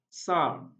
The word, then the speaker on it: psalm: We have psalm, psalm. Even though we have the letter P in this word, the letter P is not articulated or not pronounced.